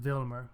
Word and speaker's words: Wilmer: Spade calls the cops, and they go after Gutman, who is found dead, shot by the betrayed Wilmer, who probably is pronounced Vilmer, but whatever.